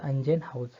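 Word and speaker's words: Ingenhousz: हे स्पेलिंग काय आहे, अंजेनहाउज, प्रोनाऊन्सिएशन त्याचं अंजेनहाउज.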